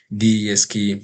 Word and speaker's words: DESC: Second, the order by total sales, then I added this which I pronounce as descending. This sorts from the biggest to the smallest. That is, this DESK means descending or descending order.